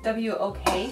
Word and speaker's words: wok: That's what you place a whack on? What? Do you call it wok? Wok? How do you spell it? Pronounce it? W-O-K.